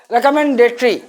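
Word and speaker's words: recommendatory: लोगे, देख लो आप, रे कम मेन डे टरी नहीं, ट्री है इसमें, वो नहीं आता, ट्री है, ट्री 5 ही है, ट्री, रिकमेंडेटरी, रिकमेंडेटरी। यहां पर ओ साइलेंट हो गया, रिकमेंडेटरी, ट्री, TRY ये उच्चारण हो गया।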